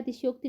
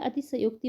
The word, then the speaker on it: अतिशयोक्ति: इसमें अतिशयोक्ति ही इसे बोलता है, अतिशयोक्ति नहीं बोला जाता है, अतिशयोक्ति बोला जाता है। तो अतिशयोक्ति इसका सही उच्चारण है, यानी कि यह इसका सही रूप है।